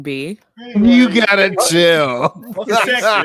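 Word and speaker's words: Geschickter: Gesector, that's how you say it.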